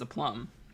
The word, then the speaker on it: aplomb: According to Google, a plum, it's pronounced a plum, means self-confidence or assurance, especially when in a demanding situation.